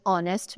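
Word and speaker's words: honest: इफ I talk about a word which is ऑनेस्ट मैन।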